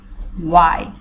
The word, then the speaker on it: why: এরপরে হচ্ছে গিয়ে যেটা সবচাইতে মানে ইম্পর্টেন্ট আমার কাছে মনে হয়, ঠিক আছে, কেন, ওয়াই। এখানের মধ্যেও কিন্তু আমরা এখানের মধ্যেও কিন্তু আমরা এইচটা উচ্চারণ উজ্জ্ব রাখবো, ওয়াই।